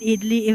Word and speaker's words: idli: The I in idli is pronounced like I, idli, idli, not idli.